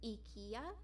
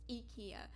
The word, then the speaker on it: IKEA: a swedish company um how you would pronounce it in swedish is ikea um okay there is there's actually a lot of brands there's actually a lot of companies that were created by swedes um uh ikea sorry um it's pronounced ikea in swedish um so ikea which